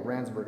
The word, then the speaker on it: Randsburg: Yeah, Randsburg, I said it wrong before.